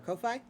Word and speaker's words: Ko-fi: It's one of those, you buy us a Ko-fi. coffee. Yeah. I say Ko-fi. Yeah, I think it's Ko-fi.